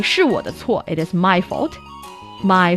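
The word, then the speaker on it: 是我的错: So you can say 是我的错, it is my fault. My fault, 我的错, 是我的错, or 是我不好, it is me, that's not good enough.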